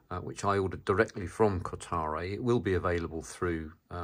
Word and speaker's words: Kotare: mid production model from Kotare. I think I pronounced that wrong again. It's a Kotare, apparently.